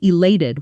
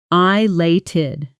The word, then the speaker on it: elated: I felt elated when I found out I got the promotion. Pronunciation: elated. Elated. Notice the A sound in the middle, like the word late.